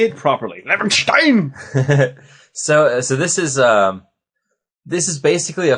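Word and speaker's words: Levenshtein: Levenstein.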